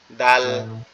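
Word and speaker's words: دال: আচ্ছা এই দালটা উচ্চারণ হবে কোথা থেকে? দালের উচ্চারণটা একবারে সহজ। দালের উচ্চারণটা একবারে সহজ। দালটা হচ্ছে আমাদের জিহ্বার আগা উপরের দাঁতের গোড়ার সঙ্গে। এই যে উপরের যে দুইটা দাঁত দেখতেছেন এই দাঁত দুইটার গোড়ার সাথে লাগবে। লেগে একটু নরম আওয়াজ হবে।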